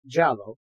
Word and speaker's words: giallo: understand in Italian Cinema Gallo pronounced jalo or jali which translates to yellow